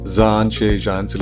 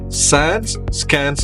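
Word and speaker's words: Zaanse Schans: ഞാൻ ഇത്രയേരം സാൻഷേ ഷാൻസ് എന്ന അങ്ങനെയല്ല പറയണ്ട. ഇതിന്റെ ശരിക്കുള്ള ഉച്ചാരണം സാൻസ് കാൻസ് എന്നാണ്. സാൻസ് നദിക്കരയിലെ കോട്ട എന്നാണ് ഈ പേരിന്റെ അർത്ഥം. അപ്പോ ഇത് പ്രൊനൗൺസ് ചെയ്യേണ്ടത് സാൻസ് സ്കാൻസ് എന്നാണ്.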